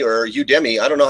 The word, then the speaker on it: Udemy: you is their tagline so i guess it's pronounced the same as academy which is you to me to me so